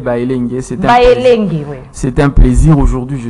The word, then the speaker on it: Baelenge: Vous avez toujours du mal à, cette fois-ci, j'ai bien prononcer. C'est Bayelenge.